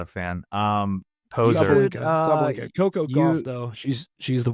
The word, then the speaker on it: Sabalenka: Sabalenka.